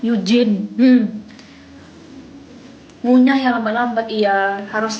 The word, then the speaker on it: Eugene: Sebenernya Eugene sih, tapi karena banyak yang salah pronounce namaku, jadi ya aku ubah jadi Yujin. Biar lebih mudah gitu dibacanya ya kan, Eugene.